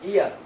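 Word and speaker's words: heir: এখন এন এন ইয়ার, এন ইয়ার একজন উত্তরাধিকারী, এন ইয়ার। এই এইচ কিন্তু উচ্চারণটা হ দেয়া নাই, উচ্চারণ দিছে হলো অ, এন ইয়ার একজন উত্তরাধিকারী।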